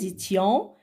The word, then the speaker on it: étions: Nous étions, faisons la liaison ici, étions, le S ne se prononce pas.